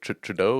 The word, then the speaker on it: Trudeau: do um true do true like trudeau is that is that how you pronounce justin trudeau um yeah so i